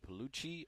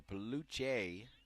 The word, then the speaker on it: Peluche: The Peluche or Peluche, their coaching staff saying it can be pronounced either way.